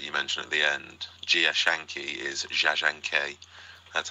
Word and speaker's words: Jia Zhangke: the director that you mentioned at the end gia Schanke is Schanke that's how I was told to pronounce it I saw a film of his